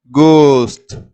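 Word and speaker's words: गोश्त: கோ, இது அப்படின்னு உச்சரிக்கணும். இங்கே இந்த எழுத்து த, மேலே ஒரு புள்ளி வச்ச மாதிரி நீங்கள் நினச்சிக்கோங்க. அப்படிங்கும்போது கோஸ்ட், கோஸ்ட் அப்படின்னா இறைச்சி அப்படின்னு அர்த்தம்.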